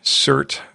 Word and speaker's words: SIRT: Well, thank you, Paul, so much for sharing the CERT Performer Training Pistol. And I don't know if you mentioned it's SIRT is how that's spelled. Correct. It's not shirt as in T-shirt.